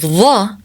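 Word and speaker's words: ظاء: And when you pronounce the sound of dhaa, you put more than the tip of the tongue between your teeth. Dhaa, dhaa, dhaa. Dhaa. Dhaa also has no exact English equivalent. Dhaa is a heavy the sound, much thicker than the usual the in the word that. It's pronounced with more tongue pressure.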